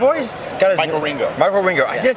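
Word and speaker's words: Wieringo: Michael Ringo.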